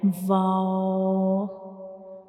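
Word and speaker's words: و: We will make a circle with the help of up and down lip, and we don't touch these two lips completely. We only make a circle to pronounce wow, like wow, wow.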